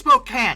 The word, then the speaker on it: Spokane: Pacific 4449 and Spokan apparently it's Spokan look yall got to stop yelling at me about that there is an e at the end of that phonetically it should be Spokane it is not my fault but Spokan Portland and